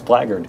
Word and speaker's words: blackguard: correct Chris Perkins pronunciation Chris Perkins is the gentleman who taught me how to credit a correctly pronounced blaggard oh yeah blackguard I I did not know I liked blackguard there I know I think apparel it's blaggard yes okay so now normally